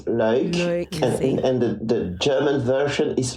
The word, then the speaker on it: Luik: Yeah, the Flemish version is Luik, and the German version